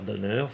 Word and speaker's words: Donner: Mais je voudrais mentionner le personnage de Martin Riggs, joué par Mel Gibson dans L'Arme Fatale, de Richard Donner, ça je vais le prononcer à la française.